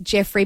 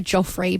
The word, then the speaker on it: Jeofrey: It's spelt Jeofrey, probably pronounced Jeffrey, but I want to say Joffrey, but it's not.